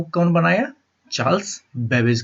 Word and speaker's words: Babbage: लीजिएगा, CHARLES, Charles, BABBAGE, बेबेज। ठीक है, बेबेज को तो आप याद रख सकते हैं ना, कैबेज से, CABBAGE, कैबेज, कैबेज मतलब बंद गोभी,